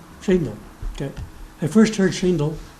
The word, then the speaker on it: Shaindel: I'm pronouncing it correctly? Shaindel.